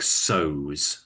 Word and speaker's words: sew: SEW, we say it like sews.